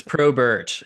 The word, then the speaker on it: Probert: Is it Probert or Probert? It's Probert, yes.